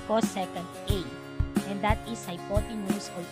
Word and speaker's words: cosecant: is called cosecant a so csc is pronounced as cosecant a and that is